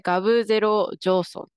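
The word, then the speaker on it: g0v jothon: 思うんですけどこちらちょっと読み方が特殊なんですけどあこちですねこれでガブゼロジソンジソンと読みますでこちらはです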